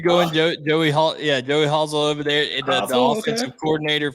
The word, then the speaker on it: Halsell: Well, here's the thing, Joey Halsell. He's been with Josh. How you say it? What I call him? You said Hazel, but it's Halsell. Yeah, say Hazel Halsell. I don't care.